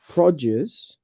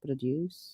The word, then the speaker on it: produce: here now you know when the stress is on the first syllable that's a noun and when you stress the second syllable that's a verb so record versus record